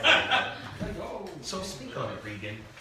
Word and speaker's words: Regan: But her name is Regan.